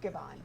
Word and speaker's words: Givhan: Robin Givhan, welcome. Am I pronouncing it correctly, Givhan? You pronounce it like my friend Jeffrey. It's Givhan.